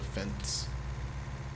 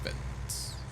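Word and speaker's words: Fendt: for one of the Fents. And I really hope I'm pronouncing that right. Fents, I believe it's pronounced Fents. That sounds like fence.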